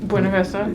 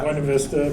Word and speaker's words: Buena Vista: The pronunciation would most definitely be Buena, but that's not really the case here in Colorado.